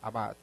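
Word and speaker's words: עבד: Y hay una palabra en hebreo que se pronuncia en español como abad. De hecho, en hebreo así se pronuncia, abad.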